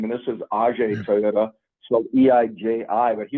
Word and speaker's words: Eiji: I guess I never knew how to pronounce Mr. Toyota's name, and this is Ajay Toyota, so EIJI.